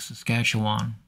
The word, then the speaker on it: Saskatchewan: We're seeing more smoke than I anticipated that's built up north of Saskatchewan Saskatchewan. I said it right the first time.